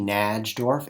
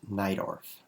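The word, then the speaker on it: Najdorf: Sicilian by the way if you see NJ dorf n AJ d o RF it's not pronounced like that um it's pronounced nidorf um but I don't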